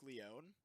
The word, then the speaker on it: Leone: So my captain's name is Mark Leone. I suggested Mark Letou. It got a lot of laughs, but we didn't go with it because it's spelled Leone, so like le one.